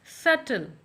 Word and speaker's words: subtle: Word which we're going to learn today is subtle. So you have already noticed that in this word one letter which is silent is B, right?